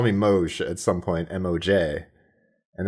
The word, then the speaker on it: Moesh: So to the average person, they're like, okay, and I'm like, just call me Moesh at some point, M-O-J. And that then became Moesh.